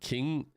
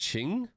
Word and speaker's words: Ching: It's pronounced Ching. So it's Ching Mao. Ching.